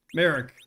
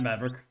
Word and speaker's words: Merrick: Oh, Merrick, excuse me, not Maverick. Oops, I didn't mean to read your name wrong. Merrick, not Maverick.